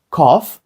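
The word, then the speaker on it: cough: J перетворилися на о F там взагалі і не пахне літерою F але звучить тут це як оф так ось коф кашель Тут взагалі Це одне з моїх улюблених тут не розуміють чому і звідки але так там з'явився звук ф коф і слово RF що означає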